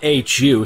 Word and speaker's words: Hu: His last name is spelled H-U, so I'm assuming that is Hu.